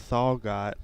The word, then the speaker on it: Thalgott: That's Sam Thalgott. Sam Thalgott is coming to pitch now for the Purple Raiders. Sam Thalgott to step in. The H on his name is silent.